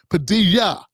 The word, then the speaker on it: Padilla: like the like they were like you're not pronouncing it right it's Padilla you know what I'm saying like I had